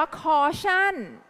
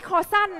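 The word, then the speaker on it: caution: แค่ สูตร อะไร คะ อ่าน ว่า คอชั่น ไม่ ใช่ คอ สั้น นะ ขอ เชิญ เด็ก ๆ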